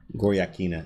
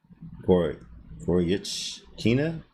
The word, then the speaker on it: Goryachkina: The CH in her name pronounced like a CH in chew. Goryachkina?